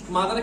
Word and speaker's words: mother: মাদারের ক্ষেত্রে কি তোমরা মত উচ্চারণ করো? মত, মাদার, মাদার। এই দেখো এটা উচ্চারিত, MOTH উচ্চারিতই হচ্ছে না। এখানে TH টা হচ্ছে দা, দ, দ।